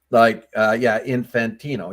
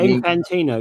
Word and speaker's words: Infantino: So, the FIFA guy, Infantino, or whatever his name is, I keep mispronouncing it. Infantino. Yeah, I was right. Yeah, Infantino.